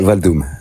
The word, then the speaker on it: Valdoum: Ouais, Valdoum. Ouais, comme un instrument de percussion.